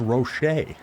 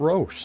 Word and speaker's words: Roche: It's Roche is how you pronounce that name. I always pronounced it Roche, so the more you know.